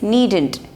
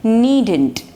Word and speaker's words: needn't: It's needn't. N-E-E-D-N apostrophe T. Needn't.